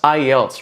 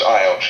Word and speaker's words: IELTS: It's pronounced IELTS, right? Because that's something I didn't even know. Yeah, that's right. It's pronounced IELTS, yeah.